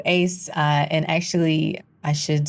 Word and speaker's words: AIICE: identity inclusive Computing education or is it pronounced Ace yeah so Ace uh and actually I